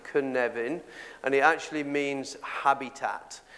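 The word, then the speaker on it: Cynefin: the knevan framework and this word canevan which is here this is how you pronounce it could never and he actually means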